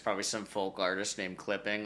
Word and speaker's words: CLPPNG: And I listened to that and it's spelled CLPPNG, I think, no I. Yeah, it's like the Screen Actors Guild. Some other buddy like totally came up with that. Just probably some folk artist named Clipping, like Gene Clipping.